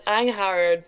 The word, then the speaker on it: Angharad: I'm good, and it's Angharad, but Oh, I most people missed the call me. I know most people forget the G, so at least you're one step ahead of them.